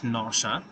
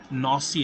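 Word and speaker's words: nausea: headache নশা নশা এই যে এই একটা জিনিস নশা নশা এটা নসি না নশা উচ্চারণ এটা এই শব্দের অর্থ সবাই সবাই লিখে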